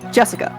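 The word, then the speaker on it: 朱志香: same kind of weird name anyway jesica is pronounced Jessica she's dad's older brother's daughter oh so we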